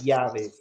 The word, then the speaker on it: llaves: Uh, but even like this word right here, llaves with the double L is pronounced llaves.